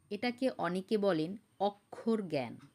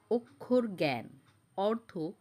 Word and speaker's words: অক্ষর জ্ঞান: অক্ষর জ্ঞান, এটাকে অনেকে বলেন অক্ষর জ্ঞান, কিন্তু এর শুদ্ধ উচ্চারণ হলো অক্ষর জ্ঞান, অর্থ বর্ণজ্ঞান।